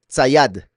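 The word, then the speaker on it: ציד: Pero esto se pronuncia sayad, ¿okay? Betsayad, la casa del pez.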